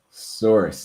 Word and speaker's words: src: for that so yeah we use this src attribute and we basically pronounce that as source because it is the source of where the image is from so we put quotations